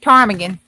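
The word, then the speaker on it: ptarmigan: Tarmagan. The P silent.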